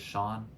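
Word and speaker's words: Sjón: bjork's Long Time Collaborators Sean I think that's how sjon is pronounced but uh he wrote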